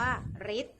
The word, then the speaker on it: ฤทธิ์: ค่ะ ทำ แรก ค่ะ คำ ว่า ฤทธิ์ ออก เสียง ริ หมาย ถึง อำนาจ หรือ